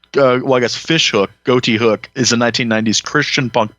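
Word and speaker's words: Ghoti Hook: it looks like wikipedia is saying that it's pronounced goatee hook oh but i think the point is like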